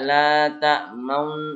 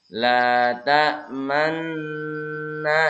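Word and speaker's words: لَا تَأْمَنَّا: Kalau dilambatkan itu begini. La ta'manna. Jadi man ditahan, dimonyongkan manna. Bukan juga la ta'maun. Nah semuanya bukan ya. Tahan dulu baru monyongkan. La ta'manna.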